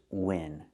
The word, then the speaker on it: win: The first word is win. You can win a cake. You can win a game. You can win money at a casino. Pronunciation, use the short I sound like this is. It's open. Win.